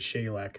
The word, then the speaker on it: Shelek: This is the shellic I think or I believe on the wiki it's pronounced it shayac is how they said it.